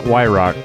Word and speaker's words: Wyrock: Clint Wyrock. That's where I get my name, the username. It's how our last name's pronounced.